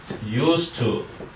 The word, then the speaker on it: used to: used to. 이건 발음이 used to 하세요. used to. 오케이? the, used 하지 말고 used to. 한 단어처럼.